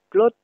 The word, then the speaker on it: klot: Clotte s'oppose à claude, KLOD, qui veut dire la gloire. Donc KLOD se dit claude, la gloire, et KLOT se prononce clotte, et c'est un trou, un creux.